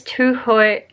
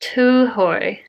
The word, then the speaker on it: Tūhoe: they're part of this Tuhoi, my Maori pronunciation is terrible. It's Tuhoi, oh, I just looked it up before I suck. Tuhoi tribe.